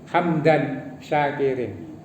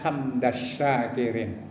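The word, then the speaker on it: حمداً الشاكرين: Nah, kalimat hamdan syakirin itu salah. Tapi di mana-mana orang hamdan syakirin, hamdan naimin. Asyakirin itu termasuk syamsiyah. Dalam ilmu tajwid ya, ada al ketemu sin itu bacanya tidak boleh ya. Hamdan syakirin itu tulisannya hamdas syakirin.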